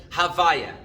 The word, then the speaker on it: Havaya: The name Yud Kei Vav Kei, which we like to pronounce as Havaya.